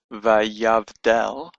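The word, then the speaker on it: וַיַּבְדֵּל: For example, this word here, Vayavdal, Vayavdal, the Shiva tells us that this is the end of the syllable, Vayav, Vayav, and that the next letter after this is the beginning of a new syllable, Dal, Vayav, Dal.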